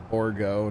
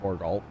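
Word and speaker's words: Bourgault: to empty so yeah it's borgo not borgal i get yelled at for saying borgo by some people what's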